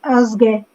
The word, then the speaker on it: Osge: is that how you say your name? No, I'm not saying it right. It's Osge. Osge, just like it looks.